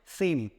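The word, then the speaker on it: Sejm: Parliament का नाम है सेम। क्या नाम है सेम, यहाँ पे जे साइलेंट रहेगा तो आप SEM मतलब जो प्रोनाउंसिएशन पढ़ेंगे वो SEM के थ्रू पढ़ेंगे सेम।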